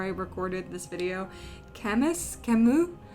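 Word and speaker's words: Camus: recorded this video chemist kamu I think it's Camu because he was French um but it was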